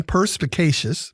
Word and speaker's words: perspicacious: some purposes opinions today perspicacious p-e-r-s-p-i-c-a-c-i-o-u-s four syllables it's an adjective and